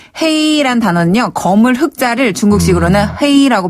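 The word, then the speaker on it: 黑: 자 샤이는 햇볕의 죄다.네 그다음에 헤이란 단어는요 거물 흑자를 중국식으로는 헤이라고 발음하거든요.네 네.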